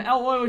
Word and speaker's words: Euler: Euler says that Euler is the correct pronunciation for the mathematician. Euler is the American pronunciation. So we're both right.